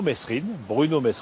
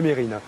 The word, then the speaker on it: Mesrine: Je vois qu'on garde bien l'habitude aussi de toujours prononcer Mesrine au lieu de Mérine.